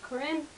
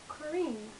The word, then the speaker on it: Corine: Yes, I know it looks like it should be pronounced as Corinne, but in the book they let us know it's pronounced as Corine.